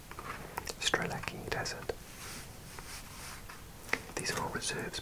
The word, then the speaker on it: Strzelecki: In Polish it would be Szczelecki Desert, Szczelecki, but goodness knows how Australians pronounce it. Let's try and guess. Strzelecki, maybe ignore the Z and make that a K. Strzelecki Desert.